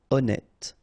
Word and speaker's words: honnête: So remember, H doesn't exist. Honnête.